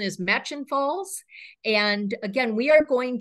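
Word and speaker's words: Murchison Falls: Falls um it looks like it should be pronounced merchison uh but we we I've learned the it's the pronunciation is match and falls and again we are going to visit this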